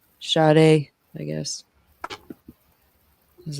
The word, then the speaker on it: Sade: I always say her name wrong. Sade, I guess.